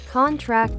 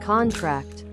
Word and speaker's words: contract: Stress on the last syllable is a verb. Examples: contract and contract.